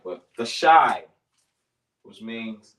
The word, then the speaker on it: Thashai: The word is Thashai. So you spell it T-H-A-S-H-I. Thashai.